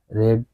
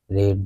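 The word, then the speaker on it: read: he will have রিড রেড রেড দা বুক তাহলে লিখতে হবে সেই বইটি পড়িয়া থাকবে হি উইল হ্যাভ রেড দা বুক হুম উচ্চারণটা কিন্তু রিড হবে না রেড হয়ে যাবে উচ্চারণটা আলাদা হবে তারা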